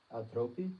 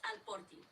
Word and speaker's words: alporti: So las tipo povas altropi. Is that what you said? Altropi? It's alporti. You got it.